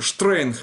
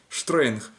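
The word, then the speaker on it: שטרענג: А теперь разберем, как нун, айн, нун и гимл. Вот, допустим, штрейнг, это строго, да, штрейнг.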